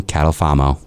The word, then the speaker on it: Catalfamo: Partners in my insurance Endeavors please welcome catalfamo Hi how are you welcome thank you